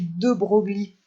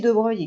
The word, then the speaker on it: de Broglie: son nom italien, mais ses contemporains qui le côtoyaient à l'époque on continue à prononcer son nom à l'italienne, donc on ne dit pas De Broglie, on dit bien De Broglie.